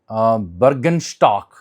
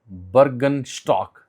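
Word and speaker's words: Bürgenstock: यहां एक तफरीही मुकाम है जिसको कहते हैं बर्गन स्टॉक बर्गन स्टॉक स्पेलिंग बड़े अजीबोगरीब बी यू आर जी एन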